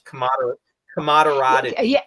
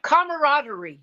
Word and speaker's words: camaraderie: use on the show it's commod koder where everybody's working together camaraderie yeah yeah yeah that's the right way to say it I'm I'm butchering it